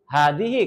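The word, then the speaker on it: هذه: Hadihi. Kenapa hadihi? Karena di sini apa ini nak kata bendanya muan muannas.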